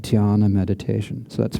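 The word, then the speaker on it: dhyāna: would be able to achieve what is called diana meditation so that's spelled d-h-y-a-n-a this is this the sanskrit word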